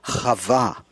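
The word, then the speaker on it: חוה: we know about Eve Eve is the European or English mispronunciation of the original Hebrew avoir meaning life the source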